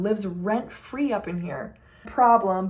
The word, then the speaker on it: PRBLM: Problem, but it's spelled PRBLM by Friday Pilots Club.